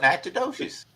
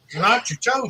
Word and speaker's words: Natchitoches: That's what we call it, Natchitoches.